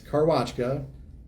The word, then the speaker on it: Karwaczka: Hi, my name is Karwaczka, and that's Karwaczka, Car, Watch, Ka.